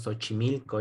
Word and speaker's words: Xochimilco: Puede ser como S. Aquí en México decimos Xochimilco y se escribe con X, por ejemplo.